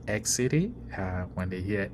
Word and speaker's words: Xity: why that is happening because of the pronunciation X City when they hear X City the thing is X and then there's an extra C there it is not the case and again the pronunciation is X City uh having uh gone through this uh basic